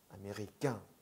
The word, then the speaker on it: américain: 그리고 américain 같은 경우는 왜 américain, 깡, 약간 깡이 됐는지는 이따가 세 발음 보실 때 또 보실 텐데요. 일단 중요한 거는 꺄처럼, 꺄. 까가 아니고 꺄잖아요, 꺄. 그러니까 깡 되는 거예요.